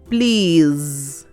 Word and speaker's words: please: is a consonant blend PL e please PL is a consonant blend and in please the last e is silent now let us take